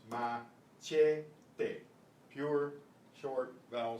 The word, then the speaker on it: machete: For some reason in English we pronounce this CH as SH. We say machete. But it's machete.